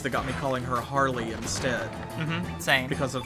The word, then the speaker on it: Harle: Do you pronounce it Harl? I do. I know it's supposed to be Harley. It's Harl, though.